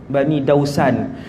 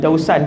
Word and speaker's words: Daus: dia daripada Daus, Bani Dausan. Bukan Bani Dausan, dia Bani Daus.